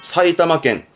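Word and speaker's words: 埼玉県: 다음에 흑토나 이런 거는 이제 주로 인명, 지명에 썼던 부분이라 요거는 지명에서 이제 사이타마켄 정도면 되고요.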